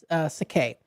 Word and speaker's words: sake: The correct way to say it is Sake.